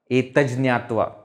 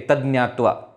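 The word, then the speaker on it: एतज्ज्ञात्वा: Etaj Jnatva. Sometimes they say Etaj Jnatva. But the correct pronunciation is Etaj Jnatva. Ja should come.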